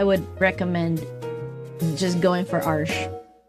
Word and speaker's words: Arches: Arches. I learned how to pronounce that.